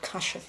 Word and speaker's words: kashf: And he said to me that what I was going through was called kashf. It's spelled Kashf, where God elevates someone in rank